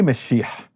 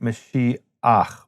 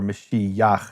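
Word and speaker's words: משיח: So, let’s take the word Mashiach. The word Mashiach is really Meshich, but it's hard to say Meshich, so they add an “a” to make it Mashi-ach, or Mashi-yach in certain dialects.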